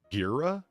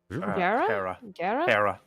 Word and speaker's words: Hera: Gira? Gara? Hera.